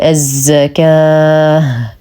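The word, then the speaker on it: الزكاة: واتوا واتوا الزك ايضا الالف هنا مديه بمقدار حركتين والواو لا تنطق ولدينا العلامه الثانيه وهي التاء المربوطه ووقفا نقف عليها بهاء ساكنه فنقول الزكاه مع اعطاء المد العارض للسكون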